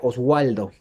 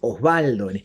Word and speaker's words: Osvaldo: de una B corta, me ponen la W y yo lo pronunciaría Oswaldo y es Osvaldo.